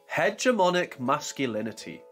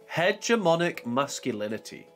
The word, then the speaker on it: hegemonic masculinity: for this word is hegemonic masculinity hegemonic masculinity hedge er ma Nick mask you Lin e t here is an example